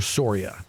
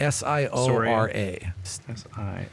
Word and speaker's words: Siora: Commander Soria. Siora. S-I-O-R-A. Actually, Siora. It's Siora. yeah, I'm mispronouncing my own Okay.